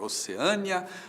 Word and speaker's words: Oceânia: E agora? Oceânia ou Oceania? Tanto faz, tanto faz. As duas formas existem e você pode dizer que a Austrália fica na Oceânia ou na Oceania.